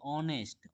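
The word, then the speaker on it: honest: अब यहां देखिए ऑनेस्ट। ऑनेस्ट हम लोग कैसे पढ़ रहे हैं? एच से एच से अगर आप लोग देखिएगा ह पढ़ा जाता है। लेकिन यहां उच्चारण क्या निकल रहा है?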